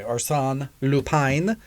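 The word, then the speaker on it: Arsène Lupin: uh us excuse me arson lupine as the french pronunciation they have that that high eye as they were saying it on the show if you will uh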